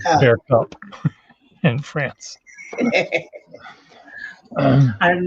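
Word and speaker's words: beaucoup: here mercy bow cup they don't pronounce the p on bear cup in france i'm not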